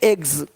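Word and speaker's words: eggs: जैसे कि यहाँ पे रूप्स, यहाँ जा साउंड नहीं आएगा, लेकिन यहाँ पे एक्स नहीं एग्स।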